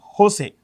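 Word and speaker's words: José: is a guy called Jose this is pronounced with an H okay these are all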